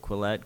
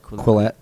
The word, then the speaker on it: Quillette: How do you pronounce it? Quillette. Quillette.